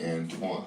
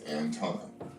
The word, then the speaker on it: Anton: He showed his name's not Antoine, it's Anton.